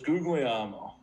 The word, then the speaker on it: Guglielmo: to pronounce it um it's googly ammo okay so googly is pretty phonetical and then where it says elmo is just ammo amo oh that's that's how